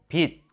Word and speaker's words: 빛: 다 하고 있어요 디귿으로 지과 치도 마찬가지예요 낫 빛 모두 디귿으로 발음합니다 나즈 비츠로 발음하는 사람은 없어요 이처럼 받침 디귿으로 바뀌는